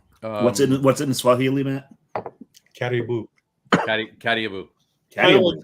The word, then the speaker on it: Karibu: Caribou. Caribou. Caribou. Like like caribou. Like the northern, it's pronounced almost the same way as the northern animal, except it's spelled much differently.